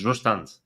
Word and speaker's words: Zustand: There was some guy basically pronouncing it correctly and going around saying it's not Zustand, it's Zustand. It's from German.